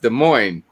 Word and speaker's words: Des Moines: is pronounced dust planes when des moines is pronounced des moines yeah because i always wanted to be like